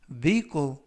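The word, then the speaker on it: vehicle: 표현이 되겠습니다 이번 표현은 vle vle vle이라고 발음하시면 되겠고요 이때 유의하 실점은 알파벳 h 이번 단어에서는 무음이라 발음이 되지 않습니다 품사는 명사 뜻은 자동차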